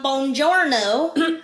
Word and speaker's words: buongiorno: Buongiorno, I'm Okay, stop, just a second. We need to start back again. So, because it's buongiorno, Buongiorno! a little bit stronger, buongiorno. Buongiorno! Yes, that's it.